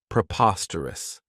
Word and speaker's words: preposterous: This adjective has 4 syllables, and the stress is on that second syllable, preposterous. Remember that OS has that schwa, that sound.